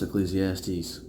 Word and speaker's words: Ecclesiastes: I've wondered what that was pronounced pretty much almost my whole life. I like that it's pronounced Ecclesiastes.